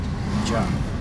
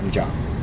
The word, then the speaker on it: Mgarr: Did I pronounce that good? Mgarr. Yeah, Mgarr.